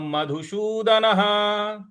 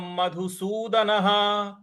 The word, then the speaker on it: मधुसूदनः: ऊ की मात्रा है, और द न ह के न के बाद जो विसर्ग है उसके आगे कुछ नहीं लिखा हुआ है, इसलिए उसका उच्चारण हमें ह ले आना है।